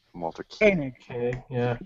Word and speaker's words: Koenig: I think it's pronounced Koenig. Walter Koenig. Okay, yeah. As if it's like K-A-N-I-G, but it's K-O-E-N-I-G.